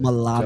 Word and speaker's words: mulatto: Mulatto. Don't know to be true. Word on the street. They Yeah, pronounce it with an A in the South, mulatto.